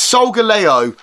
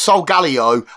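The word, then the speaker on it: Solgaleo: start off with a a cheap one and it's so Galo because I've heard this pronounced so Galo I say so Galo and I I'm in two fcking minds I've heard British people say so Galo I've heard British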